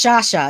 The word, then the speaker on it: Shasha: hire you guys as bodyguards is your name pronounced the same way as mine no it's it's shasha it's s-h-a-s-h-a um the extra h is there